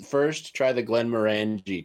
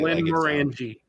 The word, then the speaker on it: Glenmorangie: So try the Glenmorangie 10-year. Okay. It's spelled like you say it. Yes, exactly. Glenmorangie. Yeah, Glenmorangie. Morangie. Give me some There's of an that IE at the end.